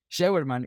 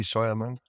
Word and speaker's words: Scheuermann: Está Scheuermann. Y también dime si dije bien tu apellido. Muy bien, de hecho. Sí, Scheuermann.